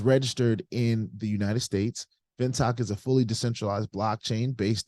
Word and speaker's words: Fintoch: Fintoch is how I've heard it pronounced.